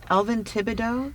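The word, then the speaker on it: Elvin Tibideaux: I'm going to jump a little bit to how, because you were Elvin Thibodeau, is that how you pronounce his name?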